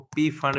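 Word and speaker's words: Pfund: Fifth को कहते हैं फंड सीरीज, उसको पी फंड भी आप बोल सकते हैं, पी अगर साइलेंट रखेंगे तो फंड सीरीज।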